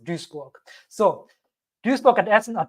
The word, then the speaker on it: Duisburg: Well, it's definitely pronounced Duisburg. So Duisburg and Essen are 2 cities, and apparently they have a shared university faculty of computer science.